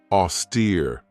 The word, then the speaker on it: austere: Another great word is this one right here, austere. This has 2 syllables, and the stress is on that second syllable with that long E sound, austere.